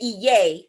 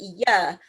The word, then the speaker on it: Iya: See, reason why she say Iye and I'm saying Iya, when I went through my initiation in Abeokuta, we spell it Iya, Iya, and they also